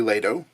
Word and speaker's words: Lado: There's some contention as to how to pronounce Lado, whether it's Lado or Lado. I believe it's officially Lado, as that's how Joe pronounces it.